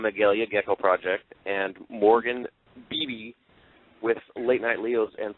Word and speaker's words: Beebe: Lots of people forget how to pronounce my last name. The BB gun. Yeah, just think of 2 B's.